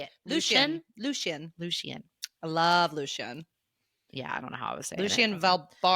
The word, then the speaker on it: Lucien: Lucien.